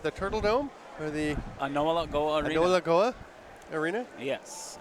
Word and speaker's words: A'nowara'ko:wa: in Akwesasne at the Turtle Dome, or the Anola Goa Arena. Anola Goa Arena? Yes, Anola Goa.